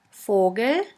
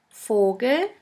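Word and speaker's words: Vogel: means clock fou fou is pronounced like the F in the word for in German we have the word fogal Fogle which means bird the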